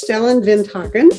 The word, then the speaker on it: Stellan Vinthagen: both do peace things and his name is stellin vinen and I'm not even sure I'm pronouncing it right because we are just now